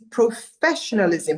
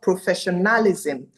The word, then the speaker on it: professionalism: And the pronunciation for the word is professionalism, not professionalism.